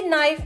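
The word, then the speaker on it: knife: तुम्हें मैंने कितनी दफा बताया है कि नाइफ में के साइलेंट होता है।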